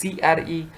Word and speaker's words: Cre: also called it as cray recombinants now you you should remember cre recombinants some some says that cray some pronounces it as cre okay so it's specifically